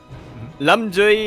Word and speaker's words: Lamduy: actually pronounced I apologize there's both a d and like a j sound in that yeah yeah yeah and